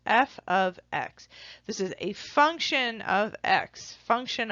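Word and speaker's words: f(x): use for a function you'll hear somebody say F ofx that's sort of how this pronounced F ofx this is a function of X function of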